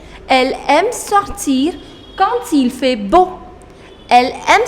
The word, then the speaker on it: quand: Now the fourth conjunction is quand. Quand. Quand, which means when. Quand. The pronunciation is quand, not quand. No, it is quand.